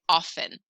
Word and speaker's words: often: is that k silent often do you really know anybody that pronounces the t in often i say it often no we don't really say the t eight what is that